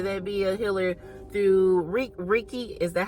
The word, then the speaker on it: Reiki: through song, whether that be a healer through Reiki. Is that how you pronounce it? Reiki? It's pronounced Reiki.